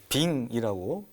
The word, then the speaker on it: 빙: 것처럼, 모았다고 그러는데 거기에는 셰퍼드하고 콜리 이제 잡종종인 그 빙이라고 얼음 빙자 발음 빙이라고 불리는 그런 이제 개도 있었다고 그러고요.